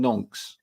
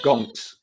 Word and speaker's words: gonks: I as I just did just now, I was calling them nonks, not gonks.